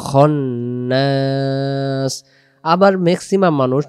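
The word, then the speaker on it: الخناس: মিনশাররিল বলা যাবে না এখানে খান্নাস বলা যাবে না উচ্চারণ হবে খনাস আবার ম্যাক্সিমাম মানুষ যে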